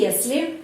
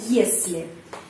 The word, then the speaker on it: если: utama dan Klausa bawahan kata konjungsi yesle pengucapannya yesle jika artinya jika dalam kalimat